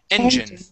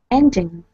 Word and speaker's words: engine: the word engine okay the stress goes at the very beginning engine engine yep just like that okay